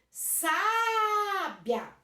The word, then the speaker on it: sábia: Sábia, sábia, o biá fica junto, a última sílaba. Não é a última que é mais forte, é a penúltima, paroxítona.